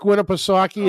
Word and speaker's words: Winnipesaukee: Does that, does that lake name rhyme with cocky? Yeah. Yeah. Lake Winnipeg, Winna play hockey, however you want to play hockey. Good old Lake Winnipesaukee at old Alton Bay.